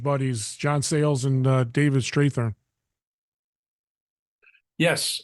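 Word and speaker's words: Strathairn: Talk about collaborating with your Williams College buddies, John Sayles and David Strathern. Yes, it's Strathern actually. Strathern. It's the most mispronounced name in My name on gets mispronounced all the time, and I IMDb.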